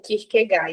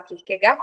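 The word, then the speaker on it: Kierkegaard: deparo com o pensamento do Kirk ou o Kirk gar E aí eu vou falar Kirk gar porque é o meu professor de filosofia do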